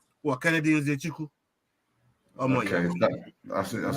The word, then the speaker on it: Nzechukwu: What, Kennedy Nzechukwu?